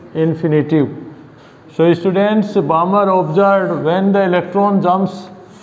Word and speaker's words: Balmer: So that time spectrum, a scientist Balmer, a scientist, L is silent in this.